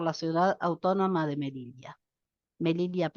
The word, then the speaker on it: Melilla: Melilla, ¿está bien pronunciado? Sí, sí, está perfecto. Creía que ibas a decir Melissa, No, pero no, no, te salía como Melilla, argentina Melilla.